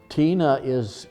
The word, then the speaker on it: Tine: Tina it's spelled T-I-N-E, it's like a girl's name.